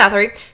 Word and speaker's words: Bathory: Did I just say her name wrong again? That was right. It was? Okay. Elizabeth Bathory, who she was basically royalty, high nobility, royalty, unclear.